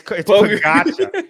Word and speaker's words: Pogačar: It's spelled Pogacar. It's Pogacar. You know what's hilarious?